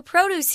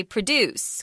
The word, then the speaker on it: produce: so you can't say produce guys this is very tricky it's one of these words that's spelled the same but is pronounced completely differently produce is fruit and